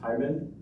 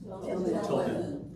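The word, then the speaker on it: Tilghman: Thyman Tilman.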